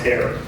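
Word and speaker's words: Hoerr: Everybody's slammed, everybody's busy, but we're really happy that HAIR, as it's called, H-O-E-R-R, it's pronounced HAIR, Construction gave us a really good price to get this done.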